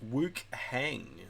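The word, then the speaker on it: Wuchang: In Chinese, it's pronounced Woohang.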